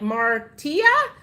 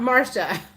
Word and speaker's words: Marcia: Oh, it's pronounced like Martia, not Marcia. Martia. Like Marty with an on the end.